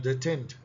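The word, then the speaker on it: détente: The term डटेंट डटेंट भी डटेंट डटेंट भी कहा जाता है। इसको प्रोनाउंस किया जाता है। डोनेंट मतलब ये तो देखिए सबसे बड़ा स्टेटमेंट सबसे सही है।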